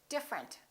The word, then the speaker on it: different: look at this one we don't say different we say different the e disappears different here are a